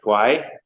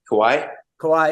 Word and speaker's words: Kauai: God, I always forget how to pronounce it. Kauai. Kauai.